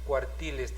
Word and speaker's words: cuartiles: Acá se dice cuartiles también, por eso no lleva tilde, ¿ya? Cuartiles. Si decía cuartiles, entonces tendría que tener tilde porque es la antepenúltima sílaba, ¿ya? Entonces, última, penúltima y antepenúltima. Cuando la mayor fuerza de voz está en la antepenúltima, siempre va a tener que llevar tilde, ¿ya?